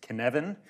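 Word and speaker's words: Cynefin: I am not a native speaker of Welsh. I believe that this is pronounced Kenevan. If you do speak Welsh, please find me afterwards and tell me how a non-native speaker of Welsh can at least get closer to saying it right.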